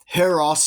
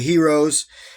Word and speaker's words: heros: This is the Scolopendra Heros is the actual Latin pronunciation, but most people say heroes.